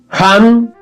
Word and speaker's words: Ham: Ham se escribe con las letras H-A-M.